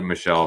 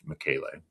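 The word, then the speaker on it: michelei: So I called it Michelle for the longest time, thinking that was the likely pronunciation of what I read. But it is, in fact, named after a person who is Michele.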